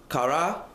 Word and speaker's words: Korah: The reason why I put that word in Aramaic, Korah, to pronounce in Aramaic, is Kara or Kara.